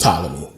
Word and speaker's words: Ptolemy: say patella is just a thing but it's pronounced ptolemy but um they got into a war and